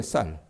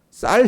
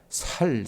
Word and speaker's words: 쌀: 뭐 쉽게 얘기하면 여러분 경상도 사람들이 발음하지 못하는 단어가 있습니다. 이게 뭡니까? 제대로 발람하지 못하는게 쌀이에요. 쌀 그죠? 쌀 해 보라 그러면이 사람들 어떻게 발음합니까? 살 이런다 그 말이에요.